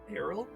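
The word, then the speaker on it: aril: translucent white fleshy um Arrow I guess is how you pronounce yeah an arrow the areola of the fruit not the areola the arrow the a-r-i-l with a floral smell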